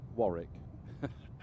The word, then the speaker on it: Warwick: Warwick is pronounced Warwick.